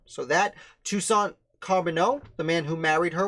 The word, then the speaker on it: Charbonneau: Shoshone tribe, or Shoshone tribe, would probably have pronounced it with a J sound. So that, Toussaint Charbonneau, the man who married her when she was